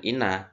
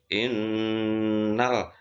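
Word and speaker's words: إنّ: In ya, kita karena ada tasdid ya bukan ina tapi innal insana lafi khusrin.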